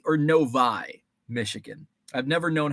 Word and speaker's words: Novi: It's called Novi or Novi because it was the 6th train stop out of Detroit. No equals number VI is number 6, long I, Novi.